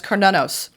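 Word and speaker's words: Cernunnos: Oh, I really massacred that. Cernunos. Okay, that's Cernunos.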